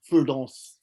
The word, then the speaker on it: Firdaus: He always corrected me in my pronunciation of his name, Firdaus.